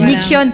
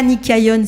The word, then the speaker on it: Nikyon: Voilà, Nikion, pas Nikayon s'il vous plaît.